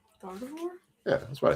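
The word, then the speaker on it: Gardevoir: Gardavore.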